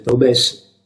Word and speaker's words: Taubes: Paolo, ha scritto Jacob Taubes, o come pronunciamo la francese, Taubes, ha i cannoni puntati verso Roma.